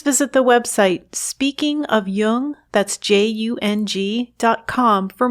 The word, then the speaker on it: Jung: podcasts or tune in just be sure to pronounce Jung with a hard J so with special thanks